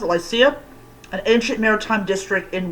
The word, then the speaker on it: Lycia: for like like glycia they pronounced lycia an ancient maritime district